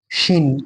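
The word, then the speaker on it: شين: ওটা যেমন সিন হয়েছে, ওটা পাতলা হয়েছে, এটা একটু মোটা টাইপের, উচ্চারণটা ঠিক ওরকমই হবে। এটা হবে শিন, শিন। তাহলে কি বললাম? এটা কি হবে? সিন, সিন উচ্চারণ করবো। আর এটা ঠিক ওই রকম উচ্চারণ হবে, শিন। এটা একটু মোটা উচ্চারণ হবে, শিন, দেখো ভালো করে, শিন।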